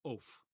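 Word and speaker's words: עוף: And lo and behold, there's the cholam there above the vav, and it's pronounced oaf. Oaf, okay?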